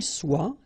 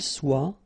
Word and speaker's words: soit: que vous soyez, qu'il soit, qu'elle soit. Okay, so as usual, good news is that soit, soit, soit, and then soit here. You write them differently, but then you pronounce them the same way.